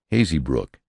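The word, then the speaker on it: Hazebrouck: front I soon learned the accepted pronunciation of all of them emers is called armorers balel balol Haze Brock hazy Brook and what more natural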